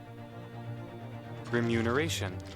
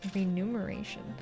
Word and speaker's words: remuneration: so rare in fact most people who do use it in day-to-day life mispronounce it as renumeration this means pronunciation is